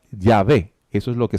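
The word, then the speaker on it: Yahweh: en ese término conjeturan que originalmente se pronunciaba ya ve que eso es lo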